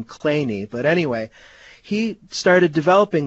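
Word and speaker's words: Kleene: mathematician named Steven Clean he weirdly pronounced his last name clany but anyway he started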